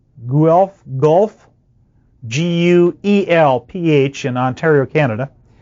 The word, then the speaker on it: Guelph: the University of here's another name I can't pronounce Guelph Guelph Gulf g-u-e-l-p-h in Ontario Canada he lists two